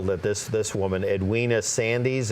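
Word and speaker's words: Sandys: this this woman Edwina Sandy's am i pronouncing that correct sans thank you Tippi Hedren here is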